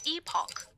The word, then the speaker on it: Epoch: It's pronounced epoch by the way.